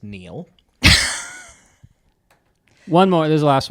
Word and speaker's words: Niall: I think that is pronounced Neil.